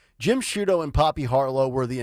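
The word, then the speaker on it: Sciutto: I think it was Jim Jim shudo I think was how you pronounced his last name s CIU t o Jim shudo and Poppy harlo were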